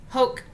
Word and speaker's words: hoc: So it's hic hoc, so like coke, hoc, ipso ipsum, kiwi, like a kiwi kind of, but a kiwi, quod, not quad, quod, eum, and illum.